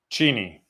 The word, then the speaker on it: Cheney: How do I pronounce this? Cheney.